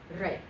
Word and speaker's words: rey: One syllable, Rey. It isn't rey. It's not two-syllable words, just one syllable.